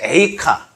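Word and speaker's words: איכה: 참고로 예레미야 애가는 그 애가 뜻이 아니라 원래는 에이카 에이카가 영어로 말하면 why how 어떻게 어찌하여 왜 무엇 때문에 이런 뜻이에 예레미야 에이카 에가이긴 합니다.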